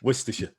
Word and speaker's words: Worcestershire: Worcestershire. Yeah. Worcestershire.